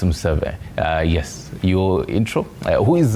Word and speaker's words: Museve: Sorry, I butchered your name initially. It's Museve.